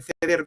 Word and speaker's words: ceder: Bora no tardó demasiado en en cedir eh perdón en ceder supame en creo que lo he dicho en catalán en pronunciación castellana y suami no no